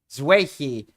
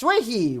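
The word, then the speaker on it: Xueyi: It is Zerhi. I think I pronounced her name correctly. Yi is very, very nice. Zuehi. Yes, Zuehi.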